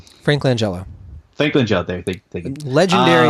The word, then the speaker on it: Langella: like he has a producer played by Frank lengua or what's how you pronounce his last name the guy from Frank Langella Lakeland Joe there you go he's actually very